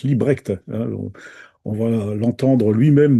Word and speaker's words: Libbrecht: Ça s'est créé Librecht pour les Français mais ça se prononce Librecht hein.